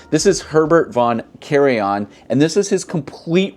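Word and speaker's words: Karajan: release I actually had to look up the pronunciation for this composer's name this is Herbert von Carion and this is his complete recordings on deych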